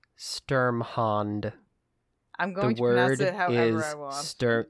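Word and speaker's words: Sturmhond: like i don't know it does sound like stormhound like the first couple of times i read it i thought that actually might be what it said but no it it's sturm hand sturm hand yes well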